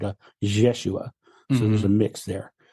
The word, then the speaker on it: Yeshua: memory is it's it's the pronunciation of it is like a mix of the two it's like a jesua so there's a mix